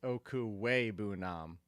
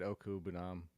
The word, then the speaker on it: Okwuegbunam: I did leave out a syllable, by the way, because it's Okwuegbunam. I said Okwuegbunam. I left out the way.